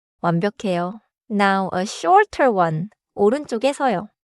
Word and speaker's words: 오른쪽: 오른쪽 has a tight double sound in쪽. Do not stretch too much.